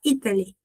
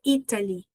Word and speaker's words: Italy: Se eu falo, I've traveled to Italy, ou Italy, na pronúncia britânica, a gente respeita o T, então fala Italy. Se eu falo a pronúncia americana, se eu falo water, eu falo Italy.